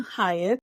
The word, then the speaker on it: Hyatt: HARRY Middleton HYATT.